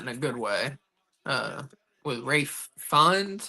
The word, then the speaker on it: Ralph Fiennes: With Rafe Fiennes, however you pronounce it. Rafe Fiennes. Why is this? I don't know, because it's spelled Ralph Fiennes.